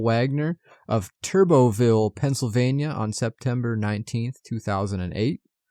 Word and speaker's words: Turbottville: there's a town called Turboville. It's spelled weird. It's Turbottville. I don't know if the T is silent, but it is in this episode.